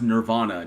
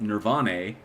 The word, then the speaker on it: Nirvana: fan of it's pronounced it's pronounced nirvana not nirvani nirvanae well he's dead so